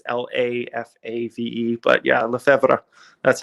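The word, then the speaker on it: Lefebvre: uh le febre but uh i say it's la fave just for easy sake because le febre not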